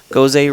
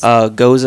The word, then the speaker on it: Gose: found out was that I was pronouncing Gose wrong. Gose doesn't have an accent mark. And I know we had a debate about this like way before. Yes. Goza is actually German rooted. So it's Goza, not Gose.